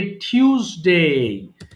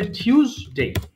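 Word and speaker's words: Tuesday: বাট এটা হবে টিউসডে। এটা হবে টিউসডে।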